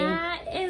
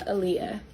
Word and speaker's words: Aaliyah: Aliyah, is it? Yes, I'm Aaliyah.